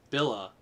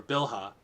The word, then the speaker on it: Bilhah: him dan rachel's servant billa or bilhah or no this is bella the first h is silent uh rachel's servant billa conceived again and bore